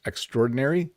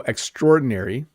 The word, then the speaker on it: extraordinary: Could you pronounce the words extraordinary, obituary and opaque? Thanks in advance. So, extraordinary is sometimes informally emphasized as extraordinary.